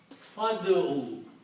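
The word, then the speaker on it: فادع: When you combine fa with ud'u, you do not pronounce alif here. You pronounce fa with dal. Fad'u.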